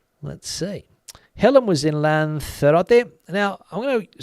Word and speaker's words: Lanzarote: Helen was in Lanzarote. Now, I'm going to say, I say Lanzarote.